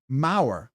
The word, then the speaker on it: Mau: Uh, Mayor Rob, my last name is pronounced like the like power but with an M. Mau.